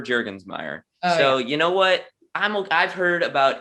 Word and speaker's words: Jurgensmeyer: can't can't pronounce it my grandmother on my mom's side could never pronounce it properly it was always jurgen mayer jurgen meyer it was never jergensmeyer so you know what